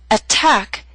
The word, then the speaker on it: attack: Attack is a word with two syllables. Stress is on the second attack. So t although in the middle of the word is at the beginning of a stressed syllable. So we have a true t attack.